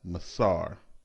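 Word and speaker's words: מעשר: its meaning from the hebrew word which is pronounced as masar the word masar is translated as tithe throughout the entire bible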